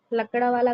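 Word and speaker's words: Lakdawala: फिर हमारी आई अ लकड़ावाला कमिटी 1993 में भी इसे यही प्रोनाउंस किया जाता है।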